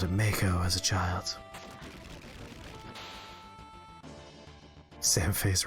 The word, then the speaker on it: Mako: bridge in front of it although apparently they pronounce it Mach oh and the voiceover for the new remake I always called it Mako as a child's Sam face Rises ex-soldier huh